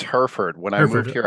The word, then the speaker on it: Hereford: It's Hereford. When I moved Hereford. here, I Okay. pronounced it Hereford, and people laughed at me. Hereford, like the cow.